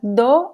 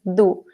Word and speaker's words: do: Rachel is asking, sempre pronuncia do ou às vezes do? Excellent question. Both ways are correct, Rachel. It is very common to pronounce do, Eu sou do Brasil. And in this case, it is very fast.